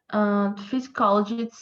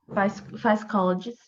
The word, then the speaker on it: psychologist: Physiologists say that these pilots Psychologist. physiologists There is no say P pronunciation, okay?